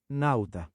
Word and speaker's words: nauta: Pronunciation, please. Nauta.